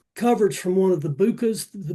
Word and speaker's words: BUCA: So, instead of buying coverage from one of the Bucas, the Bucas, that's spelled B U C A, and that stands for Blue Cross Blue Shield, United Healthcare, Cigna, and Aetna.